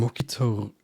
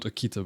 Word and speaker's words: Okto: Um, I'm Okto, not Aikita, by the way.